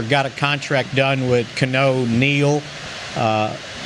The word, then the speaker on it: Keanu: a contract done with canoe neil uh is that how you say it or is it kiano no i messed it up it's gotta be keanu right just like you on uh they're still